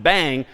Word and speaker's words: bang: Using the exclamation point, pronounced bang, is how you invert logically certain things.